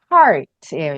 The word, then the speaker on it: heart: 요거는, 하트는 나중에 배울 건데, 정확하게는 하트가 아니라 heart예요, 영어로는. heart. 아, 그게 왜 아, 그러냐면, 나중에 이따 또 한번 설명을 할 건데, 알파벳 R의 소리가 우리는 없어요. R이라는 소리가 우리는 없어요. 이거를 아, 구부려서 발음한 음, 소리가 없어서, 이거가 네. 없으니까 그냥 생략하고, 이제 한글로 얘기를 하니까, 아, 하트 이렇게 얘기하는 거거든요.